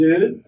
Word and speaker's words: œufs: ramasser des œufs. des œufs يعني البيض. خلي بالنا انها في الجمع لا منطق الاف. لكن انا لو عايزها تبقى في المفرد هتبقى اف. هنا بنطق الاف.